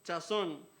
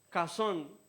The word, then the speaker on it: Chazón: Se llama Chazón. Bueno, pero que no se pronuncia así. La verdad, Chazón se pronuncia como Cazón. Y el K tiene que venir como que del fondo de la garganta.